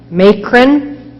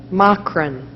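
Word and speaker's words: macron: a make run over the first all alternate pronunciations make Rin ma Crenn Negron ma CRO n ma that is correct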